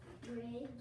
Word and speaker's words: bridge: And there's a silent letter. What is it? Oh, yeah, you can see. You can hear the I. Okay. But the E is also silent. But that's part of the pattern, the DGE pattern.